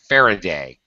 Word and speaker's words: Faraday: discovered by Michael forign D day forign day Faraday Faraday Faraday and like yeah well like most